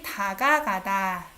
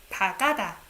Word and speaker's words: 다가가다: 다가, you need two syllables, the same thing. 다가가다. 다가가다. You don't think that, oh, even though there are two syllables, I'm gonna just pronounce once. 다가다. You don't say.